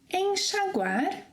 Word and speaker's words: enxaguar: It will also have this sh sound whenever it comes after the sequence en, as in enxergar, repeat after me, enxergar, enxaguar, enxugar, enxaqueca.